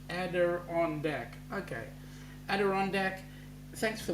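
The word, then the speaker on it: Adirondack: Montreal is called the Adon ader deck pronounced ader on De okay ader de thanks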